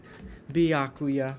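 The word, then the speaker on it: Byakuya: me alone you're all so annoying ah bacula biakuya well I'm glad I've been pronouncing it correctly I'm sorry I couldn't keep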